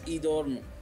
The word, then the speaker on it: Edom: family in idoma the name edom is pronounced as idorn which means look at